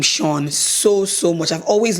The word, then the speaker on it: Sean: I love the name Sean I feel like also it's a name that might get Mis pronounced people who don't know be calling him sinen you people know how